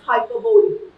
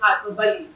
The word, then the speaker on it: hyperbole: And generally people pronounce this as hyperbole. It's not hyperbole, this is hyperbole.